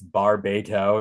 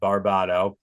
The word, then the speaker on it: Barbato: Yes, I can confirm for the worldwide internet, it's Barbato, not Barbato.